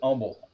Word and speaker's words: Humble: Yeah, the H is silent. It's Humble.